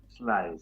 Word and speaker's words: Sly: Bueno, ¿tu apellido se pronuncia así, Sly o cómo es? Está muy bien. Como lo Sly, sí. Muy bien. Es como volar, el fonema inglés volar, pero con es Claro. En vez de fly, Sly.